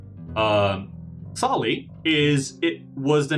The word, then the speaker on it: Sale: Uh, or which is So it is pronounced Sali. Um Sali is it was the name of an ancient